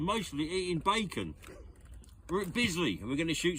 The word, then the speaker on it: Bisley: Yeah, Bisley rhymes with drizzly.